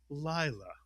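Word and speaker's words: לילה: The first syllable would be mitsuyan, lie. Lie is correct. The second syllable? La. Mitsuyan, put the word together. Layla.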